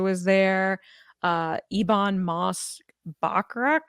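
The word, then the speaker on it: Bachrach: there uh Ebon MOS backrack is that how you say his name backrack yeah backrack uh Joseph Quinn was there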